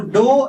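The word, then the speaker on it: ∂: Many of you would pronounce this dou as del. This is not del. Del is different, dou is different, right? Dou is different. Dou is used for partial derivative, whereas del is different.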